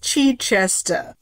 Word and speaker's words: Chichester: He went by the name Christopher Mountbatten Chichester. Chichester. What? Say it again. Mountbatten Chichester. Okay, it's really pronounced Chichester.